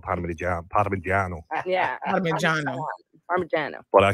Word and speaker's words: Parmigiano: Well, it the anglicized form is Parmesan, but it should be called Parmigiano.